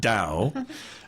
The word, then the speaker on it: Tao: It's pronounced you taught me DAO and you have it standing for team